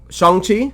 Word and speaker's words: Shang-Chi: So I will go first and let you know that I just saw the movie Shang-Chi and the Legend of the Ten Rings. Is that how it's pronounced? Shang-Chi?